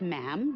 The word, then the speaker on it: ma'am: is her majesty and after that it's just ma'am rhymes with him and it's always a curtsy especially